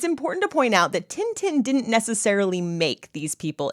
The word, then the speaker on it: Tintin: Tain Tain in French it's t tin yeah Tintin okay in French this might be before your